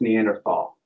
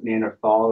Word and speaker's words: Neanderthal: question man so it's there's two ways to pronounce Neanderthal you can pronounce Neanderthal or Neanderthal and it's kind of